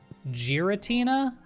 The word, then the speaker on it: Giratina: There's only one pronunciation. Giratina.